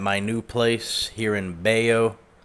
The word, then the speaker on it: Bello: new place here in Bayo Bay Joe that's how they say it in Colombia messy kitchen from last